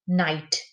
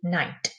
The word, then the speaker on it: knight: And a medieval soldier that wore armor will be knight. The K is silent there, so it's K-N-I-G-H-T, night.